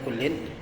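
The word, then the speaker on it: كُلٍّ: Fayajibu ala kullin, itu bacanya kullin.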